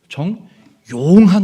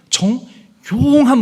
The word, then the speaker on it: 정용한: 여러분 혹시 용자에다 힘을 좀 주어서 발음해 보시겠습니까? 정용한 목사. 정용한 목사.